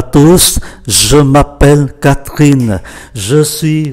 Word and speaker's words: tous: Bonjour à tous, je m'appelle Catherine, je suis votre guide. Ở đây chúng ta để ý, bonjour à tous, chúng ta phải phát âm chữ S cuối của chữ T-O-U-S,